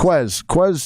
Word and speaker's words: Quez: or Quez, however you pronounce. Quez Watkins. Quez, yep.